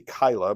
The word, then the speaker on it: Keilah: are fighting against Keilah," it could be Kyla, but I'm going to pronounce it Keilah, and are looting the threshing floor.